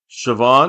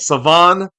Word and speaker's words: Shavon: Siobhan. No. Damn it. Savon Revel. Yeah. Oh, Savon. Savon. All right. Savan. Savon Rall. Think of it like French with a silent H.